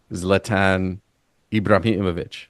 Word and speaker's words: Zlatan Ibrahimovic: So the reference I have is Zlatan Ibrahimovic, right?